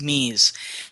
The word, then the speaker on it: me: keys they're called meis the me they're pronounced mes and if you possess